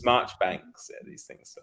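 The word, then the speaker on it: Marjoribanks: this kind of thing marjerie Banks his March banks these things so it's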